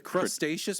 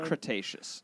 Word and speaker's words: Cretaceous: we're most familiar with what the crustaceous period like under the sea it's Cretaceous all right well thanks